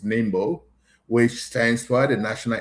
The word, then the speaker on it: NIMBO: Uh many people will pronounce it different ways, but it's Nimbo, which stands for the National Independent Movement for Pakai.